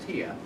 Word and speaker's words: tie: Anyway, okay, so those are mute symbols, but there is a Norwegian word that is spelled T-I-E. It's pronounced Tia, but it means to be quiet.